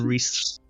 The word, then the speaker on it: Rhys: Which I'm amazed at because so many people pronounce it wrong. That's because it's spelt like a fucking lunatic. No, it's spelt correctly. Isn't that a Welsh Proper way? way. It is indeed the Welsh way.